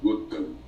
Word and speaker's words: Gautama: obrigação de saber sânscrito o Buda se chamava gotama escreve-se gautama pronuncia-se gotão muitas seitas budistas o cham